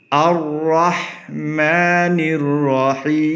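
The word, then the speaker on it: الرحمن الرحيم: চলুন আয়াতটার উচ্চারণটা হলো আর রাহমানির রাহিম।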